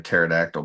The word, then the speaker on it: pterodactyl: Oh, Rob says, "Why can't you hear a pterodactyl P?" Because the P is silent.